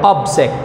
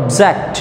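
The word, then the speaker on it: object: Noun হিসাবে যখন ব্যবহৃত হবে এটার উচ্চারণ করতে হবে অবজেক্ট, অর্থাৎ এখানে স্ট্রেস দিতে হবে। আর যখন ভার্ব হিসাবে তুমি উচ্চারণ করবা তখন অবজেক্ট সেকেন্ড সিলেবলে স্ট্রেস করতে হবে, তখন এটার অর্থ হবে প্রোটেস্ট, প্রতিবাদ করা।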